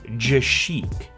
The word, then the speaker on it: GeChic: I know it's from a company called GeChic. I was worried about pronouncing that once I got here in front of the camera, but that's actually how it's pronounced.